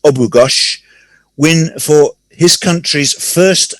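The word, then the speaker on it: Abughaush: b u g h a u s h pronounced obugash win for his country's first olympic medal in 2016.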